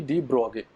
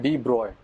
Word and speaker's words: de Broglie: यह किसने दिया लुई डी ब्रोगे इसका नाम प्रोनाउंस करने में कुछ लोग इसको डी ब्रॉग बोलते हैं लेकिन डी ब्रोग्ली इज नॉट the correct pronunciation इसका करेक्ट प्रोनंसिएशन है डी ब्रॉय तो यह जो कंजेक्चर